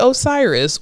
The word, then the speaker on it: Osiris: name y Osiris but it looks like ostrich um but it's Osiris okay so um Osiris